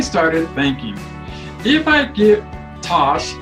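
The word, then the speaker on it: Tache: Then I started thinking, if I give Tosh, that's our dog's name, it is spelled T-A-C-H-E, a bath today, even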